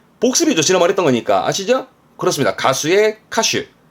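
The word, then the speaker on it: 歌手: 크게 벌리고 옳다고 말했던 거니까 아시죠 그렇습니다 가수의 카슈 카슈가 4였습니다 가사 노래 가사에 카시 카시 요것도 생소할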